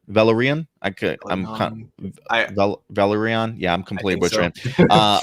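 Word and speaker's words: Velaryon: The 9 Voyages series refers to the great voyages at sea made by Corliss how do you pronounce that? Valerian. Valerian.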